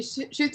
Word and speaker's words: Schutz: shuts with is it shoots or how do you pronounce that your last name she shoots a basket shooting a basket shoots basket i love it because